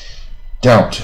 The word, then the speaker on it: doubt: 念 divorce，两个都可以啊。Doubt 啊，B 又不发音的怀